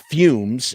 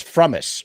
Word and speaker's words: Frumess: No, it's not Fumes. It's Frumess. Frumess is how you pronounce the name.